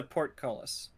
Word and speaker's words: portcullis: bee rules um you're looking and it's a port colas oh and is it already down it is